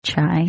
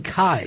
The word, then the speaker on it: chai: Okay, first of all, let's pronounce chai. Chai. Why are you saying Kai? I thought it was a hard C.